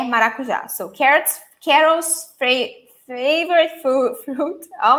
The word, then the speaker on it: maracujá: Maracujá. Maracujá. And the stressed syllable is the last one. So take a look to this here. Maracujá.